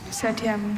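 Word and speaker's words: septième: Are there any alter pronunciations? Just the one. Satyam. Setyam.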